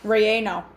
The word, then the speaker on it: relleno: okay rieno cause i didn't know how to pronounce i had to look it up i had to ask google she says relleno and i've had to look it up about